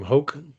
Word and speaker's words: Hoke: I know that includes Kate Mishriki, James Gaddy, Richard, I'm not sure how you say his name, Hoke. Mm-hmm. Yep. Hoke, who did an amazing installation.